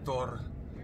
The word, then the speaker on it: Thor: Thor is actually Thor. Thor. And whenever you have the rado rune at the end of a word, it's a hard R. It's pronounced, it's rolled actually Thor.